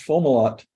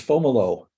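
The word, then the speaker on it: Fomalhaut: okay speaking of which you introduced foam a lot it's fomolo oh well I knew that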